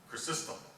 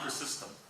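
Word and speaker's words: Chrysostom: message he quotes an early Christian Mystic John cistem did I pronounce that right I did okay John cistem and in this quote the Pope says no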